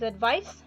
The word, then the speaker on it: advice: with c that is advice is pronounced with a sa sound ending that means uh the